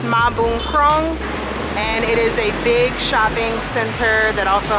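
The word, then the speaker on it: Mahboonkrong: it's called MBK center for short but it's pronounced ma boom Chrome big shopping center that also has a bunch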